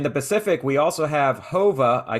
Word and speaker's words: Jova: In the Pacific, we also have Hova. I called it Jova, and I was mistaken. It's Hova, the Latin or Spanish pronunciation.